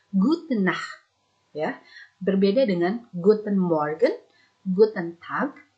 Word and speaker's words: gute Nacht: perbedaannya diantara yang lain di gute nacht kita tidak menggunakan m tapi hanya gudnait berbeda dengan guten morgen